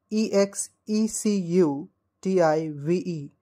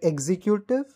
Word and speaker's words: executive: you pronounce this word do you always say like executive no it is not executive but we pronounce it like executive executive so always remember the correct pronunciation of this word will be executive executive now the next